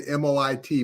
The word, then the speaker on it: Meuth: Is it Meuth? Meuth. Meuth? It would be spelled phonetically Moit, Meuth, but it's German, so it's like it's pronounced Meuth, but it's pronounced Meuth.